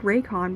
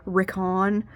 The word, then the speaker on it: Rickon: The first time they said his name, it was like they said Raycon, but, they've kind of gone back to saying, Rickon, kind of like that pronunciation, and Piers is still pronounced as Piers.